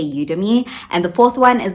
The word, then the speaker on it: Udemy: The third one is Udemy or Udemy, however you pronounce it. I say Udemy.